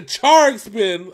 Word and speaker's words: Gacharic Spin: of this man the charge spin i hope i'm getting that right apparently that's they said that pronounced the child like a cha-cha-cha so i can charge